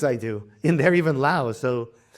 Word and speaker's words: Laos: Laos is the correct English pronunciation, but it's in Thai and Lao. In the language itself, it's Lao. So let me call it Lao.